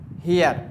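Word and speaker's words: heir: Silent है। तो क्या यूज़ हुआ? An hour. An honest man, एक ईमानदार आदमी। एन हियर, हियर क्या है?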